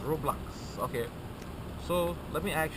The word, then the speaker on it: Roblox: What's up with Rublex? Do you like Rublex? Am I saying it right? I am? Oh, I'm not saying it right? Rublex? Is it Rublex? Okay. You like that game? You know the game where you play with the blocks? Oh yeah, it's Roblox.